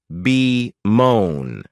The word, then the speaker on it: bemoan: is to Bone and this verb has two syllables with the stress on that second syllable be moan you may also notice